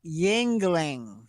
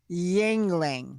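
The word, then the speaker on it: Yuengling: yeah yeah yeah yeah i'm ready it's called yingling yingling ningling yeah okay even my best guess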